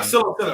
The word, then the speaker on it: psilocybin: Can I ask your thoughts on Colorado legalizing psilocybin and I don't know how to even pronounce that. I want to say Psilocybin. Yeah, psilocybin.